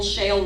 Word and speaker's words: Shale: For example, Shale rhymes with a lot of words. There's male, jail, betrayal. There's fail.